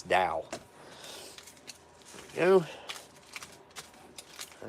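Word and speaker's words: Douwe Egberts: more Dow Edwards I used to call it Dewey Dewey Egberts because I didn't know and then someone from the UK corrected me and said it's like they told me how to pronounce it it's Dow you know all right yep I'm gonna have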